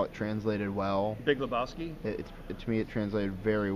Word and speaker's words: Lebowski: Because he spelled it how it's pronounced. Right. Because you say Big Lebowski, you don't say Big Lebowski. No. You say Big Lebowski.